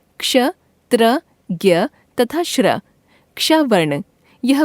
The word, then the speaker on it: ज्ञ: इसके उदाहरण हैं आज्ञा, यज्ञ, ज्ञान, विज्ञान आदि। हिंदी में इसका उच्चारण ज्ञ ग जमा य के रूप में होने लगा है।